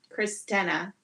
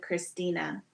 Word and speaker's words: Christina: lot of the times people will pronounce my name as um christena instead of Christina hi Becky how are